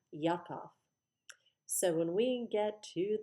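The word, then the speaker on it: יעקב: It was actually Jacob, or as the Hebrews pronounced it originally, Yaakov.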